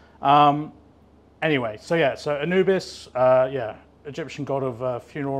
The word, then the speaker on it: Anubis: Since we last met, you've left Pinnacle and set up your own business, Anubis, is that the correct pronunciation? Anubis, Anubis yeah.